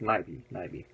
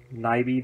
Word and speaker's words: Nyby: Now the film is directed by Christian Nyby, or Nyby, however, I think it's Nyby. N-Y-B-Y. You tell me how it's pronounced. Nyby sounds like a new pronunciation.